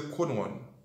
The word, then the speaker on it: Crowd1: Vous avez toujours entendu mon parler de Chrono One, l'écrit C-R-O-W-2 et puis un petit chiffre 1 devant. Vous prononcez le Chrono One.